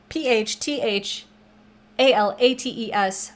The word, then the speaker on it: phthalates: to say that word it is spelled with a ph at the beginning but that is silent it's p h t h a l a t e s but it is pronounced